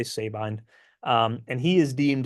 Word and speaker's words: Sabine: years we have Wallace Sabine I've also heard it pronounced Sabin but I say Sabine um and he is